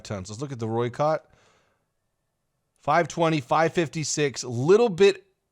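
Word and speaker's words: Rooikat: I think that's how we say it. I think I mispronounced it last video, but Roykott is, I think, the pronunciation.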